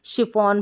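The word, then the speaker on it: chiffon: साथ में है तो इसको हम च नहीं पढ़ेंगे शिफॉन नहीं पढ़ेंगे ऐसे ही याद रख ले इसको शिफॉन पढ़ा जाएगा और जैसे मशीन नहीं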